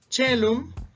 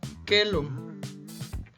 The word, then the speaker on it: caelum: Sin embargo, no se pronuncia así, caelum, sino que se pronuncia por esta regla, chelum, ¿verdad? O quelum. Cualquiera de las dos formas es correcta.